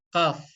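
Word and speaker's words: كاف: Huruf yang keluar dari aqsa lisan asfal ini adalah huruf kaf. Huruf kaf ya sobat. Yang mudahnya seperti huruf K pada ejaan bahasa Indonesia.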